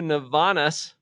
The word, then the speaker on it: Navanas: In fact, we've been giving shout outs to Navanas, spelled like bananas, only with an N and a V.